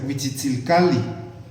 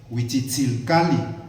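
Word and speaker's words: Huitzilcalli: colibrí, deberíamos llamarlo propiamente, con acentuación en la penúltima sílaba, ¿no? Como se acentúan en agua. Wiitchilte debería ser su nombre, ¿no? Para este espacio donde es el colibrí, pues debería de ser Wiitzil Cali.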